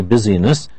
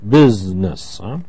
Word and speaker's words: business: busy with this but it has a special pronunciation we don't say busyness we say business and he does a